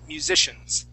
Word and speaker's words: musicians: word right here musicians make sure to pronounce that S at the end musicians yeah musicians good good